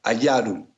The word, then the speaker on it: Ayaru: Iyar en acadio se pronuncia Ayaru y significa capullo o brote.